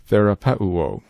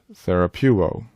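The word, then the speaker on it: θεραπεύω: Some students favor pronouncing this word as therapeu. Our lexicon favors reading the epsilon oopsilon as a single def thong so that it would be pronounced therapuo.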